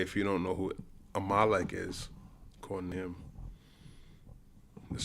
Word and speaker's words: Amalek: First of all, I'm going to give you all a Hebrew lesson. It's not amal. It's a malik.